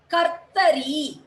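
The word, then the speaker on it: कर्तरी: So this gives the pronunciation of ir. Kartari. Scissors is called kartari. Ka, ir, ta, ri. Kartari.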